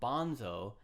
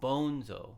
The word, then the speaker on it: Bonzo: realizes that um one he's saying the uh Leader's name wrong he calls him Bonzo like a clown um but it's Bonzo which is Spanish you kind of feel to it and he meets a